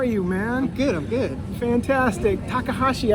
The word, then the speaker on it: Takahashi: Takahashi, I said it right? Yeah. I got nervous up there for a second. If you spell, look at the way it's spelled, you just sound it out.